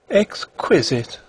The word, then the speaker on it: exquisite: have thought of exquisite exquisite she repeated the word with a sarcastic inflection putting the accent as everyone put it on the second syllable i don't think that